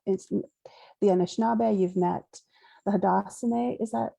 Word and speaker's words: Haudenosaunee: Micmac, you've met the Anishinaabe, you've met the Haudenosaunee. Is that how you say it? Somebody correct me. Haudenosaunee.